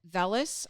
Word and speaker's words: vellus: Okay, So there's vellus, I believe is how you pronounce it.